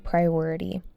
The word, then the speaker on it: priority: peace of mind a priority. Peace of mind means a calm, relaxed mental state where you're not feeling stressed or worried, peace of mind, and then priority. Priority, emphasis on the second syllable.